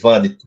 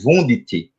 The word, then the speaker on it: Wundt: com um homem chamado velm vand falei alemão agora aqui viu a pronúncia correta porque comumente Você vai ouvir falar que é wundt mas esse wundt é aportuguesado vamos falar assim né